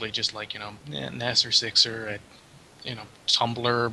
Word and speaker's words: Nasir: with the meaning of the name the name Nasser is Arabic and it means a person who either AIDS defends or renders support in some way all right it's pronounced Naser if you pronounce it Nayer it completely changes